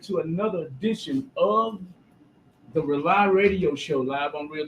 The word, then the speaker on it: Rauli: That's all we got tonight from the Rely Radio Show. It's called Rely. It's spelled differently, though. It's not R-E-L-Y. It's R-A-U-L-I.